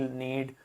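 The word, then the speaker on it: knead: इसी प्रकार जी और के को प्रोनाउंस नहीं करते हैं, अगर उनके बाद एन आ रहा है तो नोम, नैक, नील, नीड, नी, इस तरीके से हो जाता है।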